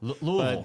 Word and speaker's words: Louisville: live in Louisville Kentucky I say Louisville louville that's what the locals say so you're a local